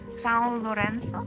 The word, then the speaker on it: São Lourenço: You're at, what is it pronounced? São Lourenço.